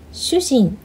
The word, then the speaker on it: 主人: Confusing Japanese pronunciations. Shujin, shuujin, shujin, shuujin.